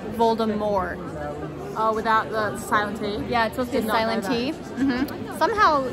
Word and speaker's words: Voldemort: pack so everyone says Voldemort but it's actually supposed to be pronounced the French way Voldemort without the silencer yeah